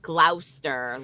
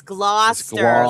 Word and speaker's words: Gloucester: It's just Well, you could be saying glouster like iso. What were you saying there? Glower. Yeah, it's it's blah. It's Gloucester like claw like a lobster claw and Gloucester.